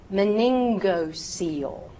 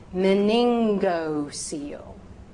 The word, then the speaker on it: meningocele: So if the G at the beginning of a word is followed by the vowels A, O, or U, or a consonant, use the hard G sound, the G sound, the G sound.